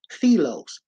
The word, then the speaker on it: philia: The third type of love is called um, philia, and it's spelled Philia, but it's pronounced philos, P-H-L, I mean Philos, okay? Philos.